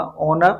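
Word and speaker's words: honour: में right answer होगा ऑनर। ऑनर बोलने में यहाँ पर एस साइलेंट है और स्टार्ट होता है आपका साउंड ओ से।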